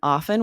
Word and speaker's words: often: In Mm, Webster's dictionary, the pronunciation often with a silent T is is listed as standard accepted pronunciation, and with the T is listed as a variant.